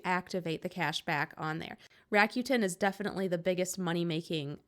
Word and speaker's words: Rakuten: app that I'm going to talk about is Rakuten and I think I'm actually saying it right